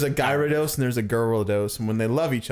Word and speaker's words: Gyarados: How do you pronounce the evolved form of Magikarp? Gyarados, Thank you. Good. Gyarados. Well, when I was really little, I thought it was gyrodos, but then people corrected me.